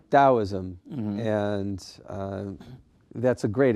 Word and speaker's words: Taoism: the same is that correct it should be pronounced dosm and uh that's a great image because uh